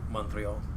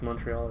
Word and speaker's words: Montreal: Because I say it like Ezio says it in Assassin's Creed Brotherhood. Montreal.